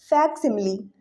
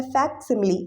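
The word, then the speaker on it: facsimile: तो यहाँ पे जो सही आंसर हो जाएगा इसका वो हो जाएगा आपका ऑप्शन नंबर सी, फैक्सिमिली। इसको कहा जाता है फैक्सिमिली। इसको प्रोनाउंस करिए मेरे साथ, फैक्सिमिली।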